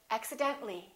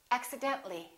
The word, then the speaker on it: accidentally: axi den ta li we don't pronounce the a we say accidentally accidentally one more general when